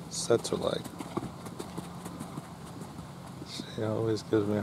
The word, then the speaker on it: Tsetserleg: This is Boyd Martin and Setzer Leg. Not scissor legs, Setzer Leg.